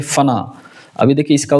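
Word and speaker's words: फ़ना: में आपको दो शब्द आता है, एक है फना। अभी देखिए इसका उच्चारण उर्दू है, ये आप देखेंगे फना बोलते हैं, फना।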